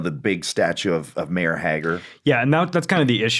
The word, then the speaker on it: Haggar: You know, the big statue of Mayor Hager. Yeah, and that's kind of the issue. Like, I'm like, I can't set it in Metro City without having Mayor. It's Hager. I call him Hagar.